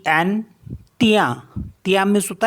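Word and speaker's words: tien: मीस होता है well T आई ई एन तिया तिया मीस होता है योस एम आई ई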